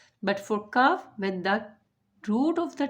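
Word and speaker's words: كاف: It is qaf and kaf. Qaf and kaf. Qaf and kaf are both pronounced from the root of the tongue.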